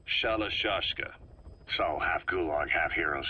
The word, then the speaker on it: Shalashashka: The guerrillas were using the name amongst themselves, and by the time I got to hearing about it, pronunciation had wound up as Shalashashka.